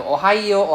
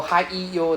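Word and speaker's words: おはよう: So Singaporeans very like to ohayo, ohaiyo, there's no E sound, so ohayo, ohayo. There's no I in the middle. So if you hear somebody pronounce as ohaiyo, please tell them off. It's ohayo. Okay, ohayo gozaimasu.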